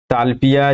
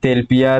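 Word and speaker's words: tilapia: हम लोग देखते हैं ताल पिया जिसको हम लोग तेल पिया तिल पिया तिलापिया ऐसे नाम यहां पर अलग-अलग उच्चारण के हिसाब से हम लोग नाम रख लेते हैं तेल पिया ज्यादातर हम लोग इसको कहते हैं ठीक है मछली यहां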